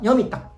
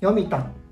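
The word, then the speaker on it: 読谷: 沖縄では谷と書いたらタンと読みます。チャタン、ヨミタン、チョコ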